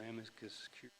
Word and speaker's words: amicus curiae: Friend of the Court's kind of a goofy sounding term, but it's the English translation, the Latin term amicus curiae or amicus curiae, pronounced, which means a disinterested third-party opinion designed to assist the court in arriving at a judicial decision.